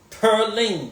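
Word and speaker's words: Purleane: Pearline, that's how it's pronounced. Pearline. P-U-R-L-E-A-N-E. It's French.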